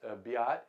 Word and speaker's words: Beat: the second swiss team be ott is is it looks like beat but is pronounced be ott and rudy and Piazza